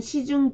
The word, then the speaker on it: 仕: 그리고 사로 발음을 할 때에는 일본어로는 시로 읽어주시면 됩니다. 예시 단어는요. 자, 봉사하다의 봉사, 그리고 사관, 관리들을 얘기합니다. 일본어로는 봉사일 때는 시, 사관일 때는 시칸 해서 시로 읽어줍니다.